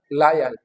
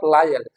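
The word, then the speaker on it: loyal: वी B transcribe ंग इट law lawyer दैट्ची लायल तो ये this not लायल this लॉयल सो इसको हम कैसे करेंगे लॉयल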